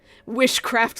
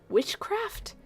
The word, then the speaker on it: wishcraft: of wishcraft on you wishcraft like witchcraft oh that's a fun little pronunciation twist huh witchcraft it's not timecraft it's wishcraft it's you you're the one